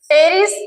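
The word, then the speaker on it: Pteris: इनका सामान्यत भूमिगत राइजोम प्रकार का और सीधा जैसे कि टेरिस या पी साइलेंट है इसमें इसमें टेरिस और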